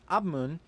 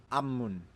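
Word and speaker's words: 앞문: Also, the word apmun is pronounced abmun, and because we have a biup running into a mium, it is pronounced ammun.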